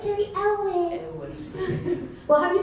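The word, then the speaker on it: Cary Elwes: a hard preschool life for that guy it's car Elis it was well have you been to Oklahoma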